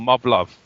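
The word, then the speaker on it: Muv-Luv: it's like Gundam in a sense it's called Mub Love. What? Let me hear that. Well, it's spelled M UV- L UV.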